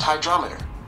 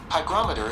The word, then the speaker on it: hygrometer: That's pronounced hydrometer. No, not hydrometer. How do you spell hygrometer? Hygrometer is spelled H-Y-G-R-O-M-E-T-E-R. Okay, so it's hygrometer. Verdict? I was wrong.